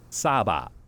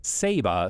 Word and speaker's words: Saba: Netherlands, speaking about the island, they call it Saba. But, everyone I spoke to on the island called it Saba, so that's what I'll call it.